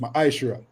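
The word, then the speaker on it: מעשר: And Malachi, chapter 3, verse 8 to 10, means tenth in the Hebrew and is pronounced ma'ashra.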